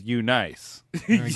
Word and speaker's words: Eunice: as ugly as that if you pronounce it properly which is you nice nice it's very bold